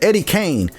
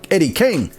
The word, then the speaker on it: Eddie King: now tell the truth how many of you all were saying Eddie Kane k a NE e instead of the right way to say it Eddie King k i n g all this time don't be ashamed this is a safe space you're amongst friends because I didn't realize the right way to say it until about 10 years ago Eddie Kane just sounds